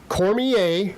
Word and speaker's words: Cormier: This card as as it sits right now, which is Daniel Cormier, Cormier is how you say his name.